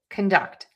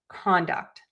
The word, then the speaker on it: conduct: So, red is going to tell you that this is a verb, and you're going to stress syllable number two, conduct. Blue tells me it's a noun, and we're going to stress syllable number one, conduct.